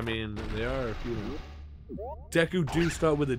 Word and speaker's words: Deku: the mario tiger right yes no it's it's deku it's it's not deku it would be an